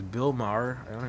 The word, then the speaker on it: Maher: It says Bill Maher. I don't know how do you say that guy's name? Last Bill name? Maher. Yeah, Bill That's Maher. right. Bill Maher.